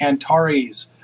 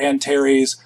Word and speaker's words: Antares: sky you'll notice that this particular Antares or Antares is and by the way it even looks like it kind of rhymes with Mars and tar this AR here looks a lot like Mars it's a very bright